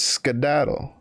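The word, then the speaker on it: skedaddle: a look after ski who the hell pronounces that as skattle our house is over here excuse me it's scadaddle ain't no skiing about it what the [ __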